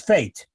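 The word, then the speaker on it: fête: It's fate. Yeah, obviously, F-E-T-E, fate.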